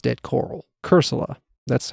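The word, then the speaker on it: Cursola: Pokémon in certain regions because it's dead coral cerula that's how you pronounce its uh variant or it's not its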